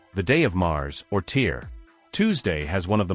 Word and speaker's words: Tyr: They had their own war god, Tyr, pronounced Tyr, a fierce one-handed deity from Norse mythology.